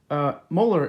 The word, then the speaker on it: Moeller: Molar is spelled Moeller, if you'd like to look this up for more videos on how to do it.